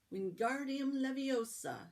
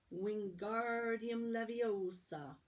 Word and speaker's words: Wingardium Leviosa: "Wingardium Leviosa," he shouted, waving his long arms like a windmill. "You're saying it wrong," Harry heard Hermione snap. "It's Wingardium Leviosa. Make the gar nice and long."